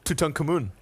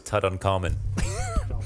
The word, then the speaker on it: Tutankhamun: mean what to uh how did you say his name Tutankhamun does that how you pronounce it yeah okay yeah I thought it was Tut uncommon no excuse me proceeded